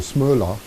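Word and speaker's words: Smøla: the gentleman called is smaller it's the SM Oh with the ole that's the Norwegian or smaller is more likely that's how you pronounce it that that is that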